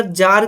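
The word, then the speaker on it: czar: उसके अंदर जार का शासन यहां पर चला करता था। तो यहां पर सी साइलेंट है। इस वजह से यहां पर जार बोला गया है।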